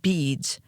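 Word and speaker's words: Bede: in terment St bead's cemetery and I should probably tell you that bead is spelled be like boy e like Edward D like David and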